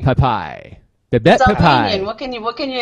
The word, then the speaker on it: Pepaj: It's like Pep Boys. Pep Boys, right? Pepaj. Pepaj.